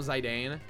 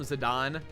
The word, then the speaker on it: Zidane: ] you um I also used call him zidane uh but like I I played desidia and they call him zidon so that helped me you know I was